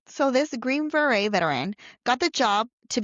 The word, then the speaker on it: Green Beret: He was actually, and you taught me how to say this word, Green Beret, A Green Beret.